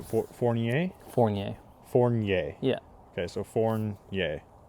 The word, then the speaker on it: Fournier: It's not so hard, but we have French, Fournier. which is like Fournier. Yeah. So that's why up here it seems to be pronounced properly.